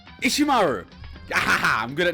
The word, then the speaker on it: Ishimaru: I keep mispronouncing. It's Hifumi and Ishimaru.